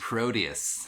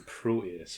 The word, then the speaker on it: Proteus: uh the Pegasus the Proteus the Proteus okay and I just hate the way they say it because they pronounce the T like a d the Proteus proteus